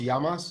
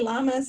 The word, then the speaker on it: Llamas: your last name is it pronounced yamas it's like spanish yeah yamas okay i don't mind if you want to call me llamas i mean uh but